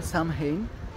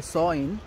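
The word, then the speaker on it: Samhain: এটার আসল নাম ছিল সামহেইন, যেটাকে এরা প্রোনাউন্স করে থাকে সইন।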